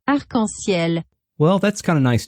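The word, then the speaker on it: arc-en-ciel: word for rainbow oh it is pronounced uncle SIL well that's kind of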